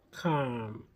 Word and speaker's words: calm: Calm with a silent L.